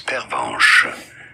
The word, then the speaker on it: pervenche: In French, for reference, it is said as pervenche.